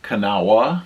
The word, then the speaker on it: Kanawha: Pronounced or spelled, it would seem like Kanawha because there's a WHA at the end, but everybody seemed to just say Kanawha.